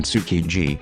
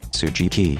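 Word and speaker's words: Tsukiji: friend always brings a to this job in sukiji which he always mispronounce tsujiki jilgai shijo after more than three years Gap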